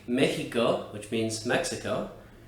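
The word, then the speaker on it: México: in certain words like mexico which means mexico it's pronounced like a letter h would be in english however in other contexts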